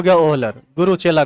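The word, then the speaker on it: Wöhler: बाद में बर्जीलियस का ही एक चेला था जिसका नाम था ओहलर। ठीक है, इसका स्पेलिंग है एफ ओहलर, मतलब WOHLER।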